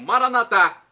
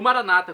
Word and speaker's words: Maranata: agora do aramaico dialeto de Jesus eu clamo maranat como dizemos nós católicos ou Maranata como dizem nossos irmãos separados os evangélicos ou